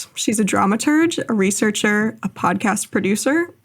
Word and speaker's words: dramaturge: What is a drama tur dramaturge? Yeah. So I do hard G. I've heard the dramaturgeurge version, but for me it's drama tur.